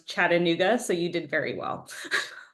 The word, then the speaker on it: Chattanooga: So when we would say Chattanooga, we would pronounce it Chattanooga. I guess the middle A was not pronounced quite correctly. So now I'm very conscious of how people pronounce Chattanooga.